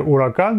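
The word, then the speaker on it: Huracán: на две модели lamborghini huracan читается на самом деле ура can be сбоку речь о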